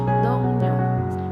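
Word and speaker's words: 동료: Jadi Dongryo ini apabila huruf I yang bertemu dengan huruf R, huruf I yang bertemu dengan huruf R, maka dibacanya menjadi Dongnyo, Dongnyo ya. I yang bertemu dengan huruf R, maka dibaca menjadi N, Dongnyo gitu ya.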